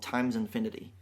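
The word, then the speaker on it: x Infinity: to look at an album he released after that called times infinity okay and it's spelled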